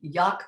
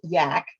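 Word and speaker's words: JAK: and the acronym uh that i pronounced jack and you corrected me i guess it's yak um but the j.a.k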